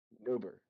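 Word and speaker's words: Nobir: Newert. You're gonna have to spell that for me.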